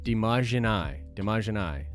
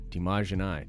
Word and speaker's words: Demagini: It's pronounced Demagini. LOL, don't worry. Everyone gets it wrong. Demagini.